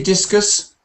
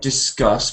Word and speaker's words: discus: Can you see discus? Not discuss, but discus.